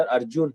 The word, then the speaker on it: अर्जुन: वैसे सर आप मेरा नाम प्रोनाउंस गलत कर रहे हैं सर, मेरा नाम नहीं सर अर्जुन है सर।